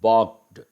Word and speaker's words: balked: Balked, L is silent.